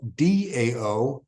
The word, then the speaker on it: Tao: reality now da sometimes spelled Tao sometimes spelled Dao but pronounced da means way and in the cont